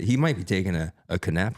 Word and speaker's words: Knapp: But people would try and say Knapp. I'm like, do you say knife? Like, no, Right. Oh, really? How do you pronounce this? nap.